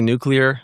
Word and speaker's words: nuclear: Thank you for pronouncing that word correctly. The number of people who do not is astonishing and saddening.